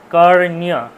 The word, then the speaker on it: কর্ণ: ক মূর্ধন্য রেফ মূর্ধন্য তাহলে উচ্চারণটা কি হবে কর্ণ কর্ণ মূর্ধায় চলে যাবে কর্ণ ঠিক আছে কর্ণ